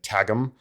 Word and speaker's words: Qwghlm: Starts off with him heading back to Bletchley Park after his time at Tagum, which, reader, is spelled in the book just completely hilariously. It's spelled QWGHLM.